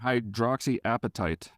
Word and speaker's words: hydroxyapatite: if you would eat it then do it hydroxyl appetite how do you say it in English hydroxyl appetite I was saying hydroxyapatite yeah hydroxy advertise what I would say too